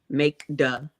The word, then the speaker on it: Makeda: k e d a make duh it's not that's not hard m-a-k-e-d-a iroquois i-r-o-q-u-o-i-s and